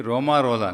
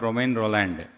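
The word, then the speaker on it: Romain Rolland: So it should be Romarola, not Romain Roland, because he is a French literate, Nobel laureate. He is from France, so they have a particular way of pronouncing their own words.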